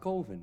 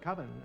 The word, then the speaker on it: Colvin: It's pronounced Colvin, man. What else could it be pronounced? Coven. That's the proper pronunciation. No, coven sounds like oven, man, and that's just, it doesn't work.